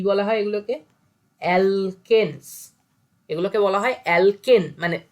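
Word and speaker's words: alkane: ENE, অ্যালকিন। আর এটা আইন, অ্যালকাইন, তিনটে নামের প্রোনাউন্সিয়েশন কর। অ্যালকেন, অ্যালকিন, অ্যালকাইন। তাহলে কি কি হলো? এন, ইন, আইন।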